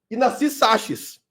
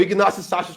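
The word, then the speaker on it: Ignacy Sachs: Na segunda vez veio pro Brasil Ignac Saches ou Ignas Saches, como alguns pronunciam, é para fazer uma palestra.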